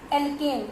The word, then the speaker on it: alkane: It may be single bond, तो हम क्या बोलेंगे इसको, एल्केन, ANE प्रोनाउंसिएट करेंगे एन।